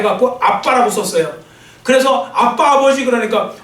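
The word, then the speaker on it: אבא: 여하튼 저 발음은 뭐라고 그러냐면 아바라고 해요. 아바. 근데 아바라고 하는데 좀 더 된 소리를 해 갖고 정확하게 일반 사람들이 쓰는 발음은 아빠예요.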